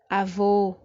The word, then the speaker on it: avô: Terceira palavra, avô. A palavra avô está dentro da regra de acentuação das palavras oxítonas, não é isso? A sílaba forte é a última e termina com a letra O.